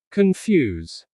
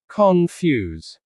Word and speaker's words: confuse: Confuse. The stress is on the second syllable. Confuse.